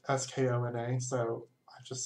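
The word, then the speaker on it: skön: So Skona, it's actually Huna. It's Swedish and it means beautiful. And if you speak Swedish, you can laugh at how horrible that pronunciation is.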